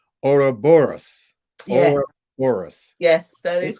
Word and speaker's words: Ouroboros: Let me pronounce it properly. Ouroboros.